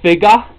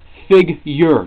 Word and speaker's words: figure: Like figa, it's figure, not figa. If it was figa, it would be F-I-G-A-H. It's figure. It's not figa.